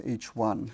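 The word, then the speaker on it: H I: Roman number 1, and it's pronounced as H1.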